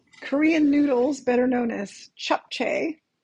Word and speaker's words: japchae: noodles better known as chop some people pronounce it differently but I actually listen to it on Google and it it does say to pronounce it chop so if you've heard